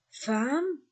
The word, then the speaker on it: femme: là la femme la femme on lit femme a on écrit e et on lit a la femme ce mot